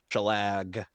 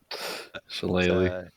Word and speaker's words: Shillelagh: I know that she likes to cast Shalag. Yes, I know I'm mispronouncing that. Shillelagh.